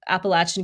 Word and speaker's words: Appalachian: we spoke with is that the people of Appalachian communities and yes that's how you pronounce it they are very self-reliant and that